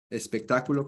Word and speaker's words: espectáculo: Espectáculo con acento en la A.